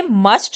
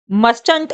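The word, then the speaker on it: mustn't: तो कॉन्ट्रैक्शन में फ्रेंड्स ये जो टी है, मस्ट का जो ये टी होता है ये साइलेंट हो जाता है, ये रीड करा जाएगा मसंट। फ्रेंड्स आप इसको मस्टंट नहीं रीड करेंगे, आप इसको मसंट रीड करेंगे, ठीक है?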